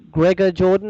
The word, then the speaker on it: Gregor Jordan: person that you mentioned your husband Australian director Gregor Jordan is that how you pronounce his name yes yeah now you mentioned